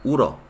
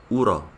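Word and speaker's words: 울어: Entonces se queda uro. Se escribe ul o, pero por la regla de pronunciación se pronuncia de esa manera, uro.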